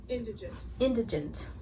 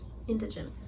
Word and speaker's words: indigent: use it if you don't know how to pronounce it. Indigent. It's about where you put the stress, right? You never know where to put it. Indigent.